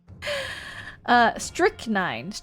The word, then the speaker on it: strychnine: The CH is just pronounced like a K. Oh, interesting. That's soap? Are we sure it's not butter? We are 100% certain that it is not butter. Strychnine.